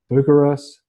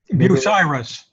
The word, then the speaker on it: Bucyrus: Bucharest International. Did I pronounce that right, Professor? Bucyrus.